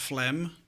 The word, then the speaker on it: phlegm: Why is there a G and it's pronounced phlegm?